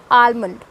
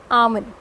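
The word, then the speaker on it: almond: Usually most commonly सब आलमंड ही बोलते हैं, but this is नॉट आलमंड, L remain silent, ठीक है। तो ये एक्चुअली में जो इस वर्ड का प्रोनाउंसिएशन होता है वो होता है आमन, L remain silent, it's आमन। Okay, I hope कि आपको क्लियर है, इट्स नॉट आलमंड, इट्स आमन।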